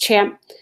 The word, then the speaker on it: XAMPP: It looks like XAMPP, but it's really, I think it's pronounced CHAMP.